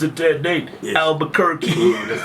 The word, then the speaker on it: Albuquerque: Is that how you pronounce it, Date? Yes. Albuquerque.